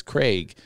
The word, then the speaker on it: Craig: It's not like an egg. It doesn't rhyme with egg or Greg. It's Craig.